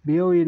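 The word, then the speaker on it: びょういん: বিও ইন মানে হাসপাতাল, বিও ইন মানে হাসপাতাল, হাসপাতাল।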